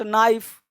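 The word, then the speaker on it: knife: के चुप रहता है भाई, देखो क्या पढ़ते हैं, नो, नॉट, नाइफ।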